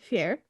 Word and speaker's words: Feyre: So the first character, the main character, is Feyre. Hold on. Feyre.